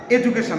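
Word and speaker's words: education: ভাওয়েলের মাঝে যদি আমরা ডি পেয়ে যাই তাহলে এটার উচ্চারণ হবে বর্গীয় জ।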